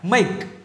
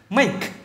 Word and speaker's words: make: Còn cái chỗ này âm cuối của nó là âm k. Nhớ nha, make, k, make.